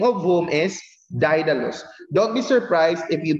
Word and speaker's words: Daedalus: this skilled worker the name of whom is didelos don't be surprised if you pronounce if some may pronounce it as data loss it's fine i just might pronounce i just